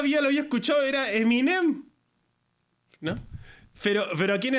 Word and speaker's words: Eminem: Y decía Ah Es minem yo toda la vida lo había escuchado era Eminem no pero pero aquí en Estados Unidos se pronuncia m y no no se le da énfasis la e es Es como un